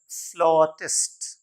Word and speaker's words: flautist: फिर FLAUTIST, ये my dear learner होता है फ्लॉटिस्ट.